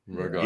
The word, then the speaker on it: ricotta: Ricotta. It is ricotta. It's ricotta. Ricotta. The C gets pronounced twice. It's doubled up.